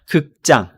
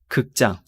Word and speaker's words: 극장: So be careful about the pronunciation here. 극장. 극장.